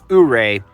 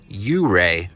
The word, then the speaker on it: Ouray: Ouray, it's properly pronounced Ouray, Colorado. It's a very popular pet peeve with folks from the area, and I just want to say, hey, sorry for mispronouncing it, and moving forward, hooray for Ouray.